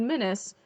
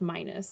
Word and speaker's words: Minis: well the first one it said menace and then it said dr minus but it's spelled m-i-n-i-s from what i saw but then in a video i heard them say it was pronounced minus okay so maybe that's